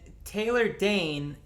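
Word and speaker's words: Taylor Dayne: board right now yes and taylor dane rhymes with plane which is popcorn without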